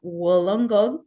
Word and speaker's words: Wollongong: Ritu Verma is a senior lecturer at the University of Wollongong.